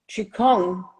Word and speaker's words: qigong: 5 000 years old it's spelled q-i-g-o-n-g it's a different Chi it sounds the same qikang means in Chinese cultivating